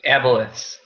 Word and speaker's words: Aboleths: Aboleths.